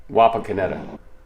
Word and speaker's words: Wapakoneta: Wapakoneta. That sounds like a disease. I got the Wapakoneta.